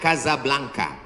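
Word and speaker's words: Casablanca: Hasan 2 di kota Kazablanca. Ibu kota Maroko. Tempat saya kuliah. Nama negaranya Maroko. Ibu kotanya tulisannya Casa Belanca. Cara bacanya Kazablanka.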